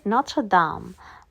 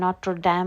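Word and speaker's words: Notre-Dame: অ্যান্ড এই যে তোমরা দেখতে পাচ্ছ আমরা এখন যাচ্ছি, সেটা হচ্ছে নত্র দাম, মানে এটাকে নট্র ড্যাম বলা যায়, বাট ইন ফ্রেঞ্চ উচ্চারণটা এরকম, যদিও আমার ফ্রেঞ্চ খুব ভালো না।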